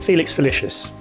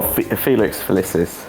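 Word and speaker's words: Felix Felicis: Felix Felicious. Oh, pronounced wrong but correct. Is it? Go on. Yeah. Well, Felix Felicius.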